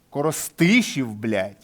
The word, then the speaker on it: Коростишів: Коростишів чи Коростишів? Коростишів наголос Коростишів, єбать.